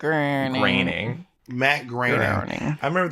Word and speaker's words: Groening: it's like john boehner it's spelled like boner but you pronounce it raining matte green ironing i